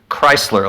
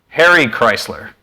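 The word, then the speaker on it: Kreisler: Also, this guy, his name is Chrysler, like the car manufacturer, Harry Chrysler. It's spelled differently though.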